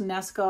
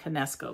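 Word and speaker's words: Knesko: by is it pronounced Nesco I think the K is silent it looks like canesco but I think it's nesco's skin face mask Black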